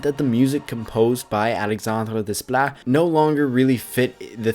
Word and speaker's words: Alexandre Desplat: Originally, Alexandre Desplat, as I believe it's pronounced, was composing the soundtrack.